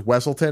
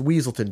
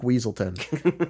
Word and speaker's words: Weaselton: It was like they mispronounced him as Wesselton. It's like it's Weaselton, Duke Weaselton.